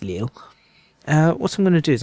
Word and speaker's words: Lille: take Liverpool to Lille is it pronounced Lila I think it's pronounced Lille what I'm gonna do